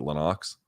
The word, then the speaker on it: Lennox: then against Lenox Lewis it's supposed to be Lennox but apparently pronounces it Lenox and here he is